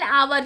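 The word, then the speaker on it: hour: एन आवर ये तो मैंने आपको बता दिया एच साइलेंट है जिसका उच्चारण होता है आवर।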